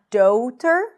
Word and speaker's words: daughter: Daughter. Not daughter. There isn't a shift here.